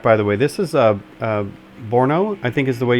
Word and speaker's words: Brno: This is Brno, I think is the way you pronounce it.